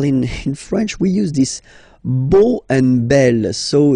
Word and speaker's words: beau: So remember this E, A, U combination of vowels only give you the sound O, beau, beau, okay?